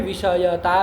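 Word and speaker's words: विषयिता: यहाँ उच्चारण में बहुत ध्यान से उच्चारण करिएगा। लोग विषयता विषयता ऐसे बोल देते हैं, पता नहीं चलता है।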